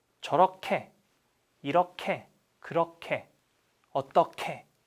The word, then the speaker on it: 저렇게: We want to add 개. But this guy pronounced 캐. 저렇게. 이렇게. 그렇게. 어떻게. Right? I'm the rule. So, pronounce it like I do. 이렇게, 그렇게, 저렇게, 어떻게.